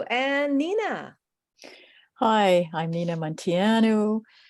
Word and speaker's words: Munteanu: Hi, I'm Nina Munteanu. That's pronounced, well, I pronounce it Munteanu. I should be pronouncing it Munteanu, but then I'd have to move my hands to say it.